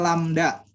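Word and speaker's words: lambda: gini putih-merah nah nih lamda nah gitu ya bacanya lamda itulah panjang gelombang nah kepadanya Berapa panjang gelombangnya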